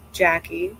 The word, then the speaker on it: Jaci: your inquiries, inquiries to Ask Guru Jackie, that's JACI, at JLove.